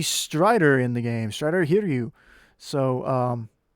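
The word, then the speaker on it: Hiryu: so it should be here to you if i'm not mistaken because the the eye is always in japanese the eyes are always pronounced e it's like yuki you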